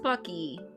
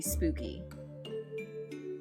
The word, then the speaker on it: Spooky: I know it's supposed to be pronounced Spucky, but it looks like it should be Spooky.